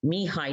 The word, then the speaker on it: Mihai: I think he's Russian or Eastern European, Mihai Csikszentmihalyi. So his first name is Mihai, his last name is Csikszentmihalyi.